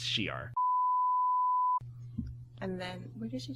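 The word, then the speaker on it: Shi'ar: No, I was going to say Shire because that's how I always Yeah. used to pronounce it, but it's Shiar.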